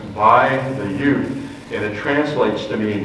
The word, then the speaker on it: Ute: The Y gets dropped, and usually it's pronounced Ute with no S on the end for either plural or singular or referring to the nation.